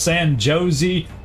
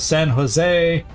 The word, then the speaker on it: San Jose: But you know all the ways I used to pronounce San Josie instead of San Jose.